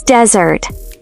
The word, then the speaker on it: desert: Desert with a stress on the first syllable means dry sandy land.